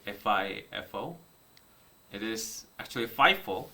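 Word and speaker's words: FIFO: by the way do you know how to pronunciate fi F4 it is actually five4 not F4 so if you are going to pronunciate pronunciate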